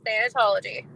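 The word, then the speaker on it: thanatology: never heard of am I saying it right than anology yes than anology okay thank you I wasn't sure um and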